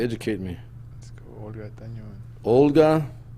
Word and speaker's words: Tañón: Let's go Olga Tañón. Olga. Spell it. OLGA. No, not Olga. Oh. Jesus, ain't that bad. Tañón. TANON. TAN. ON. That's it. Yeah. But the it's an Enya, so the Oh, okay.